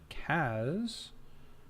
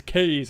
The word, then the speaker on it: Kaz: Well, it's probably because I keep saying it. And then everybody follows suit. I heard it's Kays.